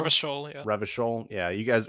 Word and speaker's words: Revachol: you're a police officer in an area called Ravishell. Did I say that correctly? Rivishol. Revachol, yeah.